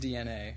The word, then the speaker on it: DeNA: to say that yeah it is pronounced DNA okay now I know